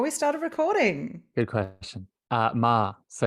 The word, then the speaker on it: Meagher: Ma. So it's pronounced the tricky Ma.